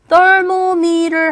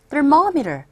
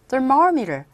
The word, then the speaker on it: thermometer: 대개 우리들에게 있어서 They usually stick the thermometer 이 단어는 여러분들께서 발음하실 때 여기 강세 줘요. 그래서 thermometer 하지 마시고 thermometer, thermometer, thermometer 이렇게 발음되죠.